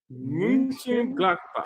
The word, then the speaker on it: Mönchengladbach: Can you slow it down for us so we can actually learn how to say it? Yeah, phonetics. Borussia? Borussia, I think we got. München Gladbach. München Gladbach. Gladbach. It's That's the correct. München Gladbach. Yeah. Okay. It's quite the same as Bayern Munich or Bayern München. Right. It's spelled a bit different, but you can say München Gladbach.